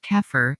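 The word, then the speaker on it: Xeper: the process of deeper pronounced kefir an Egyptian word meaning to become session initiates attempt to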